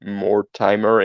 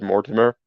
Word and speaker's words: Mortimer: name for some reason a lot of people want to pronounce it more timer instead of Mortimer so eh yeah a